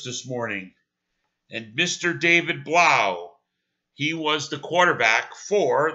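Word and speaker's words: Blough: the name of David blob that would be BL ough I believe that's how you pronounce his name nobody really knows too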